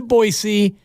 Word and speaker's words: Boise: I've never been to Boise. I might have been through it. Thank you for pronouncing it right, though.